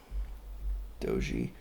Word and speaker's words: Doji: Doji. Does anybody else call it Dodge? I just feel like it's easier to say Dodge, but I know that that's not the correct way to say it.